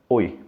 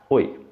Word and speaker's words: Oi: une personne et alors la prononciation de cette expression c'est très simple c'est seulement oui parce que c'est la lettre O suivi par la lettre I et alors la prononciation c'est oui ok ensuite nous avons